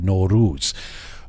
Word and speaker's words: Nowruz: us to spell it n-o-r-o-o-z no ruse which actually i i think that that is a phonetically a smarter way to spell it and i used